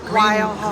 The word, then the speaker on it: Weil Hall: Wheel Hall? Weil Hall.